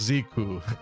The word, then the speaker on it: Zeke: Zeke is actually pronounced Ziku.